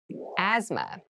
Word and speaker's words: asthma: deep cavity deep cavity asthma asthma Asma so this word has very interesting spelling there's a th in the middle but we don't say Asma we say Asma so kind of ignore that but try to remember